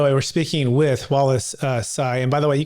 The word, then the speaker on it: Tsai: By the way, we're speaking with Wallace Sai. And by the way, you can pron you pronounce sai um like I'm saying it, but it's it's spelled ts ai.